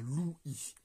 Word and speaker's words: Louis: On ne peut pas avoir le prénom du roi qui ne fasse qu'une syllabe, on va donc avoir Louis.